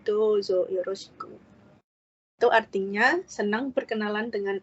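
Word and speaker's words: どうぞよろしく: Kalau ada seperti coretan di atas huruf itu artinya dibacanya panjang ya, seperti ini. Dozo yoroshiku. Di bahasa Jepangnya sendiri tulisannya ini adalah huruf do ditambah huruf u. Jadi dibacanya panjang, dozo yoroshiku.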